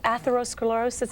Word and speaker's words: atherosclerosis: Well, how does atherosclerosis, is that the way you pronounce it? Yes, it is.